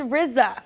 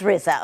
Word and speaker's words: RZA: It's RZA. It is RZA, okay.